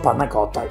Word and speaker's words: panna cotta: quintessentially italian flavouring espresso good pronunciation espresso parnakota he knows that we say it well done start by